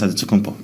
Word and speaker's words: Antetokounmpo: But in the Greek way, you say with the NT, like Antetokounmpo. Whatever you got, just say, it's Giannis Antetokounmpo.